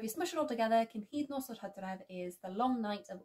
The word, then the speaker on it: Cynhydnos yr Hydref: Cynhydnos yr Hydref. Cynhydnos yr Hydref.